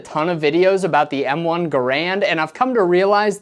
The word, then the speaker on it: Garand: Starting with its pronunciation. I have always said it and will continue to say it. M1 Garand.